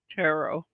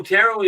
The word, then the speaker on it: tarot: tayot tayot huh okay of course the pronunciation varies but I've always used tarot oh terot is what I call it now but when I first